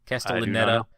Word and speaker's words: Castellaneta: Castellaneta.